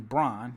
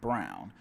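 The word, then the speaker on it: Braun: i have christian brown i keep wanting to say christian brawn but it is christian brown but it is spelled like brawn which is confusing but what's even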